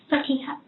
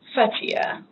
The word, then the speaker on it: Fatiha: Can you pronounce your name for me? Fatiha. Fatiha.